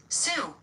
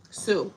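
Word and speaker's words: Sioux: I don't really want to be out here pronouncing stuff all wrong cuz we don't need to do that. Sue. Sue.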